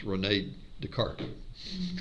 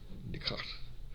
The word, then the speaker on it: René Descartes: Well, then if you're not taking French, it's René Descartes. Okay? Descartes. The French have a real weird way of pronouncing R's. It's a sound.